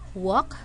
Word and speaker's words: walk: So we're not going to say walk or talk, but we say walk, talk. Letter L is silent.